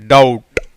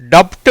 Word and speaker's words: doubt: டவுட். டப்ட் இல்லை, டவுட் இல்லை, டவுட்.